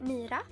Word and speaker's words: Mira: um mira in my language how do you pronounce it that um well uh everyone say mira so it's a long i and it's like